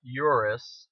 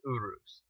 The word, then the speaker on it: Urus: the Lamborghini Urus, not Urus as some people might know it as, but it's called, it's actually pronounced Urus.